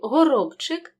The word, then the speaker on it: горобчик: к вимовляємо чітко стежка і в слові горобчик дзвінкий б перед глухим чи вимовляємо чітко не оголошуємо горобчик і все-таки Слід зазначити